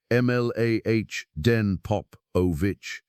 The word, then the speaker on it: Mladen Popovic: So a team led by Professor Mladen Popovic, pronounced Mlah Den Popovic, at the University of Groningen, pronounced Groningen in the Netherlands, set out to build something better.